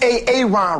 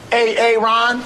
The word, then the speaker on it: Aaron: A.A. Ron. Here. Why didn't you answer me the first time I said it, huh? Because it's pronounced Aaron.